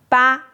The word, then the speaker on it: 拔: Second side first tone ba means it ba it's a number. Second tone ba means pull.